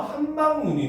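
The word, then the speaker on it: 함박눈: 자, 한박이라는 말과 눈이라고 하는 말이 합쳐져서 한박눈이 되면 이때는 길게 발음되는 눈이 마지막 세 번째 음절 둘째 이하에 왔잖아요. 그렇죠? 이때는 발음 기호로 쓸 때도 그냥 한박눈 한박눈하고 이렇게 짧게 발음이 됩니다.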